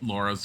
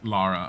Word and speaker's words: Lara: I'm sorry Laura Lara so part of the reason why they named her Lara I remember if you guys don't know is because it forced people to say her name in a British sounding way because they were gonna just call her Laura and they were all like it's not very British sounding they're all like well